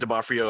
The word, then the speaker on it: D'Onofrio: Vincent D'Onofrio, I think, is an amazing.